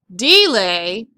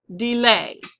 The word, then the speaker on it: delay: that it's not accented so your accent's going to go back here delay it's not delay it's delay all right next word